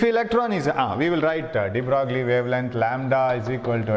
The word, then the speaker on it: de Broglie: And de Broglie, and it can be pronounced de Broglie. Some people announce it as de Broglie, but it is actually de Broglie, right? De Broglie wavelength. GLI is the silent, right?